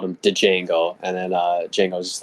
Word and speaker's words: Django: uh they called him Django and then uh jeno's just like yeah the D is silent and then he kills